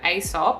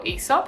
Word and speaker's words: Aesop: use this it's from aesop or esop however you like to pronounce it and it's called